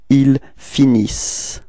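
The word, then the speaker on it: ils finissent: And as usual for the verbs, you know, this E-N-T is not really pronounced, it only gives you the pronunciation of the S. Okay, so you get, for the verb, you will get il finis.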